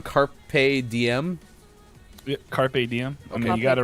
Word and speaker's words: carpe diem: it wrong carpe diem carpe diem i mean you got it right that time okay oh yeah i said carp dm earlier right carp diem yeah the fish first talking about the fish